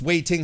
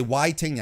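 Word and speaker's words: Wai Ting: be uh pronounced there it's pronounced waiting how did i did i say why ting i knew it was waiting i'm an idiot uh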